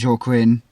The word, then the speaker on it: Joaquin: Contra Costa, Stanislaus, San Joaquin, Alameda. Yeah, that's what I was thinking, because it's kind of a Spanish, isn't it? Joaquin, And J is pronounced like H in Spanish.